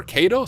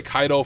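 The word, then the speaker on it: Caido: you can use burp Suite I personally prefer KO so that is what I'm going to use her it's actually pronounced kaido I realized I've been saying it wrong this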